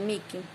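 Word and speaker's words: mihi: La H no se pronuncia, es muda, con excepción de Niil, que es Niquil, y Mi, que es Miki.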